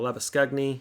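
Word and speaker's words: Labuschagne: ones if you're interested lava Shane or lava skug knee if you want to pronounce it in Afrikaans higher score 234 azad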